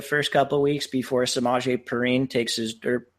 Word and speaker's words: Samaje: How do you pronounce the first name? Is it Samaje? Samaje. Samaje. Yeah.